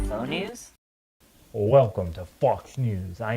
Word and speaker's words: Faux News: Fox News with Kent Clark. Guys, that's pronounced Faux News.